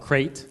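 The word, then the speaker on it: Crait: It's called Crate. Crate, but not Crate Dragon. Yeah. It's spelled differently.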